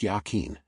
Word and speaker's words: Yachin: The one on the left and to the north he named Yachin, pronounced Yachin, and the one on the right and to the south he named Boaz.